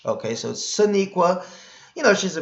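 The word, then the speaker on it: Sonequa: name wrong right yeah Sonique Wow Sonique Wow I knew I was saying it cuz I said it in the last video and I said Shaniqua and I kept thinking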